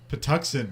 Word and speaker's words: Patuxent: Maryland how do you say that the Dachshund Patuxent Maryland okay yeah uh Jack is watching them